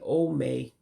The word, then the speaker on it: Ome: You may be wondering why I'm saying Ome instead of Omi. That's because in the Igbo language, E's are actually pronounced just like you would say an A.